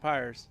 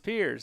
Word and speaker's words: Pierce: So we're saying it right. Piers, right? Or is it Pyers? Until somebody's mother tells us different, we're going to go with Pierce. It's Piers.